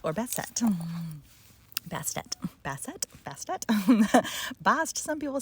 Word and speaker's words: Bast: And so I wanted to start with a little section about Bast or Bastet. Bastet. Bast, some people say Bas or Bass, some people say. I'm going with Bast, rhymes with last, and we'll see how we do.